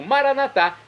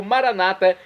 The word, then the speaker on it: maranatá: E agora eu clamo maranatá, como dizemos nós católicos, ou maranata, como dizem nossos irmãos separados, os evangélicos ou protestantes.